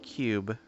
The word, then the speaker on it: cyube: steam vr i believe it's called cube but it is spelled c-y-u-b-e well all the way